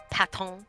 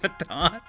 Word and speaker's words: Patton: Patton. I was really hoping you'd pronounce it Baton.